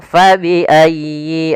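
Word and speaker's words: فَبِأَيِّ: Al habbu dzul asfi warayyi ala rabbikuma tukadziban pada lafal fabiayyi.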